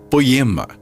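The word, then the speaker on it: ποίημα: maravilhosa irmão só palavra no original a pronúncia dela seria poema ela é do verbo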